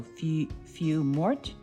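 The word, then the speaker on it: feuille morte: do it but I you don't pronounce the L so a few few Mort is I think how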